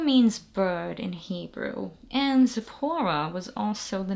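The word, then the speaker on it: Tziporah: different ways um essentially in Hebrew this letter makes a t sound it's not quite a z that's why I think the TZ makes more sense it's kind of like when you say Ritz that sound at the end is is what that Mak so Zapora and now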